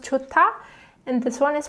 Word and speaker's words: 좋다: So this one is pronounced 좋다, and this one is pronounced 좋아.